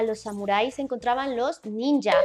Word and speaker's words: ninja: mi hija o niña vamos a decir ninja porque la jota se va a pronunciar como ya lo mencioné como nuestra y debido a la gran